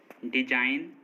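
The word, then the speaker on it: design: जी silent, N से पहले आया जी हमेशा साइलेंट होता है, मतलब अगर किसी वर्ड में एन से पहले जी आएगा तो जी साइलेंट होगा। जैसे डिजाइन, रिजाइन, साइन, campaign, फॉरेन, नो, इन सभी वर्ड्स में देखिए एन से पहले जी आ रहा है और एन से पहले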